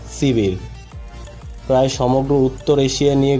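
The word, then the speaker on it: Сибирь: Siberia যার উচ্চারণ সিবির।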